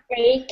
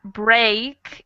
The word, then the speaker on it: break: difference between these words the vowel break is open a string is close yeah it is a little more closed so that break is a little wider more of an a sound and the other two are like a long e sound all right next line